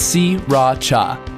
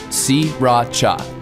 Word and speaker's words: Sriracha: It's Sriracha. Don't bother paying attention to that first R. Sriracha. 3 separate syllables. Okay, you try. Sriracha.